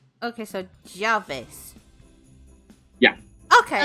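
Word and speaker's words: llaves: does that sound make uh Double L sounds like J like like a y okay yeah because if you're gonna say keys would be jollies but it's written double l a v e s okay so Jarvis yeah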